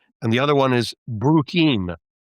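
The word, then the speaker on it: Bruchim: Uh, two I can think of are Beyond the Bris, which is a great website, and the other one is Bruim. It's spelled B R U C H I M.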